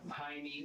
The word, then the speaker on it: Jaime: The J in Jaime here is pronounced with an H sound, like it would be pronounced in Spanish. But Michael and the detective pronounce Jaime with the J sound.